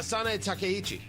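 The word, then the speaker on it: Sanae Takaichi: President Trump in Japan meeting with uh Sane Takichi. Uh producer Carl's like I believe this is the proper pronunciation of the new prime minister and I said I will go along with that.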